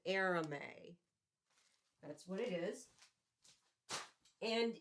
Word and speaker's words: arame: Although the description is going to be in the video, but it's Arame, Arame. You pronounce it Arame.